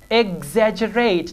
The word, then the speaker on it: exaggerate: G examples Exorcist exert exaggerate now see I am pronouncing X as G exaggerated now see I'm